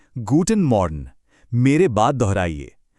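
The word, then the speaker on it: Guten Morgen: सुबह के लिए हम कहते हैं गूटन मॉर्न। मेरे बाद दोहराइए, गूटन मॉर्न।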